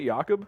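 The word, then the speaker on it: Jakob: former fullback for the is that how they pronounce it yakob yes really made drag sandorn he didn't need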